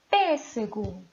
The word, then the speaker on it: pêssego: Pêssego. Qual é a sílaba tônica? Ah, professora, está muito fácil. A sílaba tônica é pes.